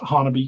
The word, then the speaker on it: Honobia: what it's called the Siege of Honobia, or Hanabi. I actually pronounce it Hanabi.